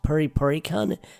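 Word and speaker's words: プリプリカン: I probably butchered that pronunciation, but it's leprechaun with a P at the front of it. Now, in Japanese, it's pronounced Puripurikun, so that one flew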